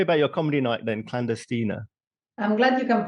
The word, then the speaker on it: Clandestina: So tell me about your comedy night then, Clandestina. I'm glad you can pronounce it properly.